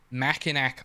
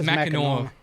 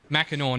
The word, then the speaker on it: Mackinac: He says Mackinac Island, and that's not how it's pronounced. It's pronounced differently in a way that gun to my head could not tell you. It's Mackinac, Mackinac, not Mackinac.